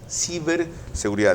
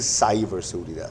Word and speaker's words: ciberseguridad: Ciberseguridad. De paso, no se dice cyberseguridad. Si es en español, es ciberseguridad.